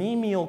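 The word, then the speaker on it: cnemial: there that's called an e meal crest it's spelled with a silent C in front of that and that is a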